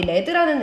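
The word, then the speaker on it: lead: 있는데, 읽어보시면 자, 우리 레드라는 애가 나와 있습니다. 이걸 레드라고 읽습니다. 동사일 때는 리드라고 읽어서 이끌다라는 표시지만 레드라는 것은 딱 봐도 이것은 when의 주어, 즉 명사다리잖아요. 명사로서는 납이란 뜻이에요. 납.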